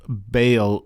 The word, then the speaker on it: Baal: And, some people pronounce that idol Baal, but the way I've seen it spelled, I think it's best Baal, so that's the way I pronounce it.